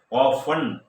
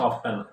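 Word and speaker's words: often: ഓഫൺ, don't pronounce ഓഫ്റ്റൻ, ഈ ഉച്ചാരണ ഓഫൺ, പലപ്പോഴും.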